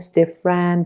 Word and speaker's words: different: ببین ما نمیگیم different برای اینکه E is a vowel after the stress syllable. ببین میگیم که vegetable، نمیگیم vegetable because there is a vowel after the stress syllable. پس یادت باشه هر جا there is a vowel after the stress syllable that vowel should be silent.